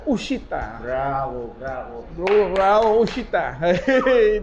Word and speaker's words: uscita: Ini kita bacanya bukan uscita, tapi uscita.